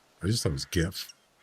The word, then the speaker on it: GIF: And I never I just thought it was GIF. Not a big deal. As I said, is how many words that start with a G are pronounced like a J?